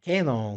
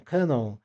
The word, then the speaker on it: Canon: porque muita gente fala tem uma polêmica pessoa falar Canon Canon e a pronúncia na verdade é Canon porque ela surgiu com esse nome ou não em 1934